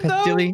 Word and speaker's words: Pestily: Is it Pestily. though? Yes. It's like pestilence.